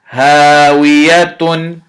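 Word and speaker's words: هاوية: Ha fatha alif sukoon ha, waw kasrawi hawi, ya fatha ya hawiya, ta dhammatan tun hawiyatun. Hawiyatun, this is the first word.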